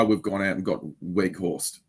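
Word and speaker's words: Weghorst: gone out and got Weg horse you know woot wig horse that's how you say it isn't it like he's a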